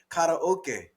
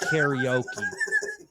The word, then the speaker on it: karaoke: no, it's a Japanese word, right? Karaoke. Yeah. So that's how they say it in Hawaii? That's the right way to say it, evidently. Yeah, karaoke. But Okay, well, here on the mainland, we call it karaoke.